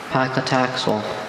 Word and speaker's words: paclitaxel: Are there any alternate pronunciations? Just paclitaxel. Paclitaxel.